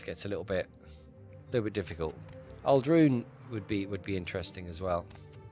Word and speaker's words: Aldrun: I've always said Aldrun, and they say Aldrin, which makes sense.